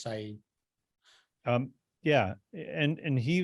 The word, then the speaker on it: Syed: imprisoned this was the person that am I pronouncing his name correctly is it Syed Syed I believe it's Saeed um yeah and and he was in prison